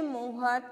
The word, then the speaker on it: Mohr: तो बेटा आपके जो नेक्स्ट हम टॉपिक करते हैं आपके सिलेबस के अकॉर्डिंग, सेशे मोहर थ्योरी ऑफ रिंग। तो सभी हेडिंग डालो, सेशे मोहर थ्योरी ऑफ रिंग। मैं स्पेलिंग बता देती हूँ, सेशे की स्पेलिंग है